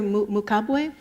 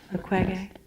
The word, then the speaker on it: Mukwege: Mukwege? Mukwege. Yeah, I'm saying his name incorrectly. Am I saying it? Mukwege.